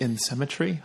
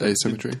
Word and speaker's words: asymmetry: And that was because I just don't like the insymmetry. How do you say that? Asymmetry.